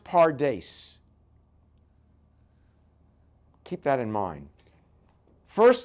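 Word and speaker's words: פרדס: It's pronounced pardes.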